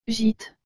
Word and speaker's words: gîte: d'écrire au tableau et le mot gîte vous avez aussi remarquer que la lettre j'ai suivi de la lettre il doit se prononcer j ai que la lettre t suivi de la lettre e doit se prononcer te donc toutes ces lettres ensemble donne gîte j'espère que vous vous rappelez